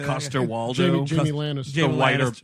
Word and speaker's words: Coster-Waldau: Coster-Waldau.